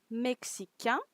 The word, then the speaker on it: mexicain: Now, if you notice, in every time I pronounce the feminine version, you can hear the consonant, okay, the final consonant. When in the masculine version, you don't. You hear a vocal, okay.